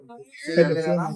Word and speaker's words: Marina: मेरा नाम Marina. मेरा नाम मेरीना. Marina. मेरीना. Correct pronunciation.